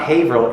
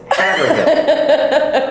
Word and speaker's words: Hill: to tell me that it's not hail it's Hill and I had to